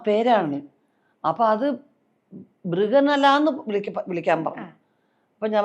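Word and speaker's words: ബൃഹന്നള: ആദ്യത്തെ പടത്തിൽ അതിന്റെ ഡാൻസ് മാസ്റ്റർ ആ ഡാൻസ് മാസ്റ്ററെ മൃഗന്തള എന്ന് വിളിക്കാൻ പറഞ്ഞു മൃഗന്തള അപ്പോ മൃഗന്തള എന്ന് അവരുടെ ഉച്ചാരണം മൃഗനല അതായത് അർജുനൻ ഉർവശി ശാപം കൊണ്ട് അർജുനൻ ഒരു പെണ്ണായി മാറിയ ഒരു ഒരു സംഗതിയുണ്ട് കഥയിൽ ആ പേരാണ് അപ്പൊ അത് ബൃഗനല എന്ന് വിളിക്കാൻ പറഞ്ഞു അപ്പോ ഞാൻ പറഞ്ഞു നമസ്തേ മാസ്റ്റർ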